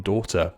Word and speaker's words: daughter: th and Asthma Auto silent gh in daughter also at first I